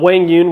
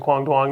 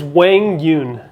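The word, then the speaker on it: Quang Duong: before, you know, uh, Wang Yun, which is, by the way, is how we're pronouncing Quang Dwang now. We've all been just butchering his name for the last year and a half. Finally, finally, everybody, it's it's Wang Yun is my understanding of it.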